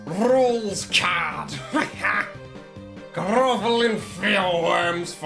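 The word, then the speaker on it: Rouxls Kaard: Anyway, it's pronounced rules rules card.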